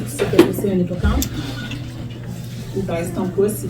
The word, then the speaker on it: hippocampe: OK, parce qu'on ne va pas dire hippocampe. On ne dit pas le à la fin. Alors, hippocampe. Lève ton pouce si tu sais que c'est un hippocampe.